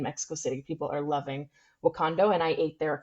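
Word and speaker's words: Wokando: Yes, it's actually a bit of a pun. It's Wakando, which is WOK, like a wok you cook in, and then ANDO, which is that's wok in Spanish, which is Got it.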